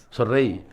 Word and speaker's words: sonreí: Sonreí. Te da una orden. Sonreí. En imperativo te lo dice con acento en la I. Ese día que me mandaste